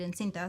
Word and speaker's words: encinta: Like in Spanish, I say it encinta.